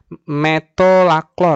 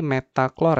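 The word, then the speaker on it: metolachlor: Metolaklor ya. Saya bacanya tadi metaklor ya.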